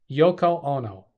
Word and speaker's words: Yoko Ono: Yono that's that's the name right the right pronouncing Yoko Yoko Yoko Ono oh no yes yeah John Lennon's Japanese wife